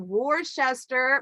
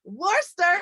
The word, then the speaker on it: Worcester: the way out of the UK out of War Chester wait did I say it right nearly Worcester Worcester Worster there you go you guys if you have